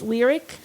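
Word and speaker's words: Lyriq: would happen right but you've already said it's lyric you've already said it's celestic so if you do the ick is how you pronounce that ending it's going to be the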